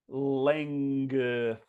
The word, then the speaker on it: length: We have to say every single sound. Length, length, length.